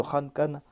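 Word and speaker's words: خلق: Allah déclare Ahum ashaddu khalqan amman khalaqna. Et quand on place un fatha dessus, on va prononcer cela comme khalq.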